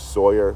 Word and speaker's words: Sawyer: Sawyer does a good job. Like a Tom Sawyer.